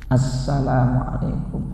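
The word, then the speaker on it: السلام عليكم: minimal assalamualaikum, minimal segitu, assalamualaikum. Namun juga harus benar dalam pengucapannya, tidak begini assalamualaikum warahmatullah, assalamualaikum, itu hilang alif lamnya.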